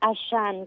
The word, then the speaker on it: Axan: días Hola Buenos días se pronuncia ashan como si la x fuera una sh Ah okay ashan en